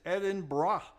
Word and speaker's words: Edinburgh: It is Edinburgh, not Edinburgh, not Eden something or other. It's Edinburgh.